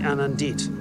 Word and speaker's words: Anand: appointment yeah hum Sai Anand Anand anit the emphasis is on the first syllable you know what I'll